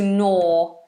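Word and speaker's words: gnaw: habit of Garing to no this is a silent G it's just an n Sound no no to no is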